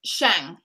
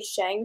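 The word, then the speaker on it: Xing: Well, the audiobook says Shang. Shang?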